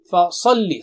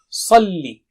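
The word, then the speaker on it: فصل: Fasalli. Sa is very thick and high. Salli.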